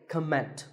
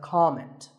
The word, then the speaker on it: comment: I have heard many speakers say comment. Now, whether you use this word as a noun or as a verb, the first syllable is always com. So it's never a comment, it's a comment.